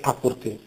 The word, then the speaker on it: apporté: porte con 2 P in francese 15o 16 secolo e anche dopo probabilmente anche prima le le doppie le geminate sono scritte ma non pronunciate quindi in francese la